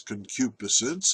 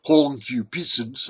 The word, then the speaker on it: concupiscence: Well, in English, in American English, it's concupiscence. And if I were in Great Britain, I'd pronounce it concupiscence.